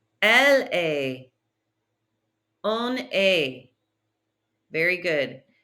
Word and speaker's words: est: Il est. Elle est. On est. Very good. That is an A sound. Try not to say est.